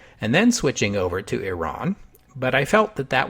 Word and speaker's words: Iran: isn't over yet because different English speakers pronounce Iran in different ways I prefer Iran because that's the pronunciation closest to how the Iranians say it although the consensus among